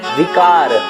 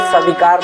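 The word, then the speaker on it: बिकार: हरहु कलेश सविकार नहीं है। लोग बोल देते हैं कि हरहु कलेश सविकार, सविकार नहीं होता है। यदि आप ऐसा प्रोनाउंसिएट करते होंगे तो ये गलत है, उसको सुधार लीजिए।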